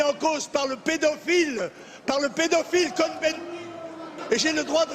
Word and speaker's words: Cohn-Bendit: M. Cohn-Bendit, puisque nous sommes en France, on le prononce à la française, eh bien lui, dans